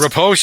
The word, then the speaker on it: riposte: Riposte.